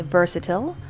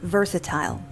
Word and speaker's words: versatile: There are two ways to pronounce this word. Americans would say versatile, whereas the British is versatile, just like the word fragile and fragile.